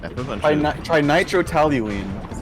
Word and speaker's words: trinitrotoluene: Trinitrotoluene.